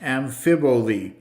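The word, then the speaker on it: amphiboly: end on here today it's from the greek irregular speeches pronounced amphiboli one of the common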